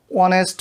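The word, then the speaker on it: honest: অনেস্ট ম্যান, দো the first letter is a consonant but it's pronunciation is like a vowel sound.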